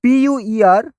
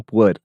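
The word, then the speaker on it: Pu'er: I will spell it first before I attempt to pronounce it. PUER Hong Yin Yuan Cha.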